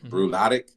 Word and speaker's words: Bruichladdich: And then some of the peaty ones, like the Lagavulin, how do you pronounce it? Lagavulin and Bruichladdich, I believe. Bruichladdich, yep.